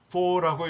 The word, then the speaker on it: FAW: 영어로 FAW라고 약자로 썼는데 for라고 읽으면 됩니다.